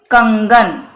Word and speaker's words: कंगन: आमतौर पे हमें यह भ्रम है कि यह न या म होता है, बिल्कुल नहीं।